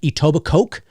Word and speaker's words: Etobicoke: it it sounds like it looks like it's spelt like etobicoke because it's c-o-k-e at the end but it's actually etobicoke that's that's that's the